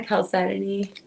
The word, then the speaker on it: chalcedony: Is that the calcitiny? Is that how you pronounce it? Yeah. Great. Calcitiny. That's perfect, because I was trying to figure that out. A lot of people, you could say chalcedony.